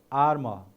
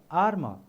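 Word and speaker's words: armour: more time clause very nice now another word arma ar first spell it a r m o u r arma so pronounce with me arma arma one more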